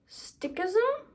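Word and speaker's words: Sikhism: One of my favorites this is stickism think stick ism like a stick but it's it's spelled differently.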